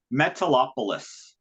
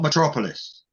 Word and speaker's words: Metalopolis: Metalopolis Records. Not Metropolis. No, it's Metalopolis.